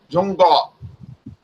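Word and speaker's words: 中国: But And then I asked her, how do you pronounce China? She says, pronounced Zhongguo.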